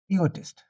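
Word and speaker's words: egotist: इगोटिस्ट, ठीक है। ई, जैसे ई लेंगे, ई, एक ई यहाँ पे कम लेते हैं, पूरा नहीं बोलते इसको, ई नहीं बोलेंगे, ई, ठीक है। ई गोइस्ट, गोटिस्ट, ठीक है, ई गोटिस्ट,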